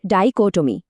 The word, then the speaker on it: dichotomy: উচ্চারণটা হবে ডাইকটমি, মানে দুটো ভিন্ন জিনিসের মধ্যে স্পষ্ট বিভাজন।